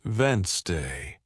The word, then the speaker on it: Wednesday: But listening teaches you it's actually pronounced Wednesday.